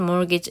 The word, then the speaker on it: mortgage: 실체를 통해서 어떤 것 같은 like the US Mortgage Agency라고 돼 있습니다. 자, 얘는 T는 발음하지 않아요.